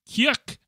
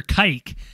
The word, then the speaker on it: Kuyk: Parker Kuyk. No, actually, hold on. It's actually Parker Kike. And I know this because Parker Kike messaged us and he goes, my last name is pronounced Kike.